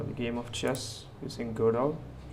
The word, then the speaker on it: Godot: game of chess using Goo that's pronounced goo and I'm using 4.1